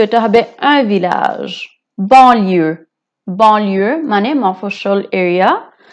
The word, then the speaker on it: village: village village হচ্ছে গ্রাম। ভিলাজেও double এলটা pronounce করা হবে। আর ভিলাজ হচ্ছে পুরুষ লিঙ্গ, সো এটা হবে un village।